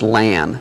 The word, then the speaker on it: LAN: referred to as an Lan and it's pronounced Lan so when you hear